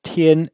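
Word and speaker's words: 天: Et en dessous, on a un caractère qui est un mot qui se prononce tien, qui signifie ciel ou bien journée.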